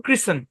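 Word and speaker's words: christen: দেখেন সি এইচ আচ্ছা এখানে টি টা সাইলেন্ট শুধু টি সাইলেন্ট না এখানে আরেকটা কথা আছে ভাই এই ই ও সাইলেন্ট এই শব্দের উচ্চারণ ক্রিসেন কি উচ্চারণ ক্রিসেন এরকম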